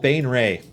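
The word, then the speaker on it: Baenre: Pronunciation guide. All right. Bum bum bum bum bum bum. Jarlaxle Bainra. Jarlaxle Bainray.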